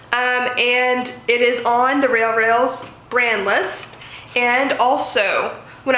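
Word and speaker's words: RealReal: Go to The Real Real, R-E-A-L. I probably pronounce it rail because I have a bit of an accent. The Real Real.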